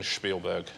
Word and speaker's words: Spielberg: better than 100 isn't it it's actually you pronounce Steven Spielberg thank you very much Richard pleas Louise remember